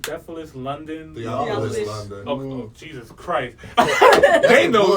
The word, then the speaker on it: Theophilus London: How do you pronounce this person's name? Theophilus London? Theophilus London.